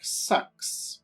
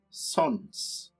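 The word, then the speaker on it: Sącz: to take the chieftain of it looks like sucks but it's actually pronounced sons the county of sons but we can't do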